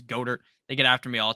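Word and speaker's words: Goedert: i'm terrible pronouncing names i say dallas goddard people say it's goater they get after me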